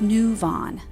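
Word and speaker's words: Nuvaughn: evidence by telling me it's new Vaughn like move on I remember Emily knew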